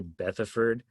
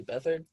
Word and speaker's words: Beathard: Beathard, I don't even know if I said his name right. I think it's C.J. Beathard. Beathard?